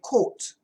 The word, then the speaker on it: caught: Because the advanced student is going to hear Coach Shane say caught. But then they're going to hear somebody else say quote. And they're going to say, what? Why is it different? And you look in the dictionary says caught. But the other guy was in America, Then you go to Forvo and you start clicking around and you can see, aha, people over here say this, people over here say this.